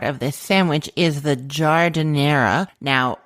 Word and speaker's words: giardiniera: And then the other classic part of this sandwich is the giardiniera. Now, if you don't know what I'm saying, it's because it's not spelled the way that it is pronounced.